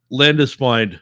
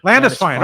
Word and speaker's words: Landesfine: It's the E before I. Yeah, that's what it is. In German, that's a I sound, not an E sound.